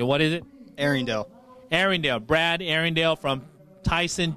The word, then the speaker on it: Arringdale: tell me your last name I want to pronounce it correctly what is it Arendelle Arendelle Brad Arendelle from Tyson Johnson up at